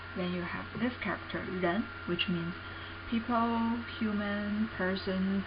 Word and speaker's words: 人: This character means people, person, human beings, anything like that, and pronunciation is 人, 人.